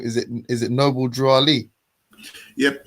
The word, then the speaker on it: Noble Drew Ali: yeah yeah I'm still here how how you pronouncing the name is it is it Noble drw Ali yep Noble Drew Ali is it isir is it fair to ask